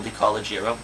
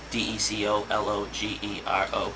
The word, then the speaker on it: DeCologero: am on there, DeCologero, DeCologero. So thank you, Tom, for pronouncing it correctly this entire time, because not everyone can.